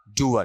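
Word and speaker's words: doer: डूअर। डूअर का मतलब करने वाला। बात समझ में आई? ये डोर नहीं है, क्या है? डूअर।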